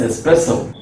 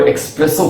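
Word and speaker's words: espresso: Yes, that is एस्प्रेसो। लेकिन majority of people इस word को एक्सप्रेसो कहते हैं, जो कि इसका सही प्रोनाउंसिएशन नहीं है। तो यहाँ पे सा है, एस्प्रेसो।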